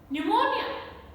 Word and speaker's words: pneumonia: Pneumonia, pneumonia. Psychiatry, psychiatry. So P is silent in all these words. It is there in the spelling, but it is not there in the pronunciation.